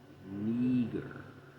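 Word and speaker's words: Νίγερ: It's pronounced Neger. Neger. Of Latin origin.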